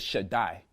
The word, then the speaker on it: Shaddai: When the Daleth and the Yod get together, it pronounces a long I sound. So you get Shaddai.